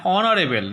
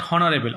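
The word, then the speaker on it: honourable: অ্যান অনারেবল নট হনারেবল, অনারেবল, A horse, a house, an honest man, A Honda, an hour.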